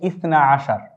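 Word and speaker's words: اثنا عشر: আবার ইসনানি অর্থ 2, 10-এর সাথে 2 যোগ করলে 12 হয়, তাই আমরা বলছি ইসনা আশার। এটির উচ্চারণ আমরা এখানে লিখে দিয়েছি সবার সুবিধার্থে, যেন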